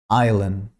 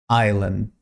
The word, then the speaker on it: island: three throughout number 10 island island island here we don't pronounce the letter s the correct prononciation is